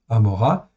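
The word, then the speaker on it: עמורה: Amora, c'est le nom phonétique de, en fin de compte, de Gomorre, tout simplement. En hébreu, ça s'écrit Amora.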